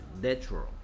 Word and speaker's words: natural: natural 해서 얘가 에 발음이 됩니다. 에 발음. 뭐 정식 뭐 발음 기호로는 이렇게 생긴 발음입니다. 뭐 A하고 E를 붙여 쓴 것 같이 생겼습니다. 에 발음. natural.